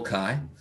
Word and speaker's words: chi: do you say this chi squared beautiful and that's that's what that little dude is that's the greek symbol kai right i made my